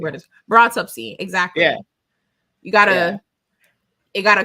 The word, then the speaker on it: Broughtupsy: is how the word is pronounced to Yeah. me, and that is how the Broughtupsy. word is Broughtupsy.